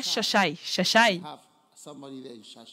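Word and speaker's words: Xai-Xai: It's pronounced in Portuguese. En portugais, Xai. on prononce cela Chachai.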